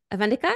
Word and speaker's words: Avantika: Shining within podcast let me make sure I pronounced your name first correctly avena avenica yes aan so welcome back to the CH